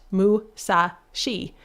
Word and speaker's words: Musashi: 634 M tall and that seemingly odd number was actually intentional because 634 can be pronounced Musashi which then references Musashi